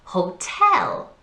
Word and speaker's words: hotel: strong sound listen again hotel which one is the stress syllable good in this one it's the second syllable tell hotel hotel well done the next